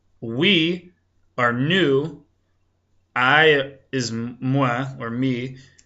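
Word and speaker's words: nou: say we our team we is new that's spelled n o u so we would say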